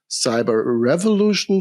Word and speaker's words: cyberevolution: Yeah, I think you already pronounced it accordingly. The word cyberevolution obviously carries evolution and revolution in it.